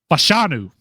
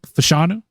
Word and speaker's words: Fashanu: How do you pronounce his name again? I couldn't tell you. I butcher it every time. Fashanu.